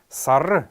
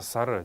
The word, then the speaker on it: сара: второе слово это слово sara sara sara правильно произносится она на калмыцком это месяц почему месяц называется сара дело в том что сейчас в современном разговорном языке очень часто говорят сар а я даже слышал